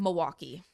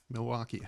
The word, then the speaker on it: Milwaukee: Is there an L in? That seems to be the big thing is how do you pronounce Milwaukee, Matt? Milwaukee. I don't know. I think there's an L in it.